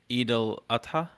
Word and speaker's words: Eid al-Adha: Um, yeah, I had my holiday last week, and How do you pronounce that, by the way? Eid al Adha, Okay.